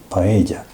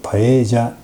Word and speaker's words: paella: In Japan, many people pronounce it as "Paelia". But It is Paella, the last syllable is pronounced as ¨ya¨ in Spanish. And it would be with an accent on the "e".